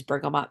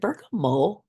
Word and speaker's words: bergamot: use this oil also is it bergam and the tea is silent it's bergam isn't it I think so